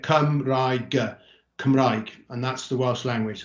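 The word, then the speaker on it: Cymraeg: say it there so come as in to come yeah come and go rai as in the type of bread that we can have and then go but i i don't pronounce the o so you get come right and that's the welsh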